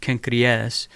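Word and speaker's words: Cenchreae: He stops at Kenkrea. In Greek, this is pronounced Kenkreas, and this is the neighboring port, Corinth, because of its proximity to these two ports.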